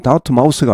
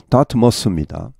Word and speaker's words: Dartmouth: 그중 한 캠퍼스가 다트머스 발음은 다트 마우스가 아니고 다트머스 이분이 바로 랍 일입니다